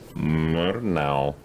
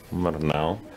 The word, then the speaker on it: Murnau: How's the pronunciation? Murnau. Murnau.